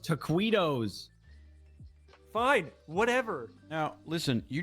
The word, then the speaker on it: taquitos: It's pronounced taquitos.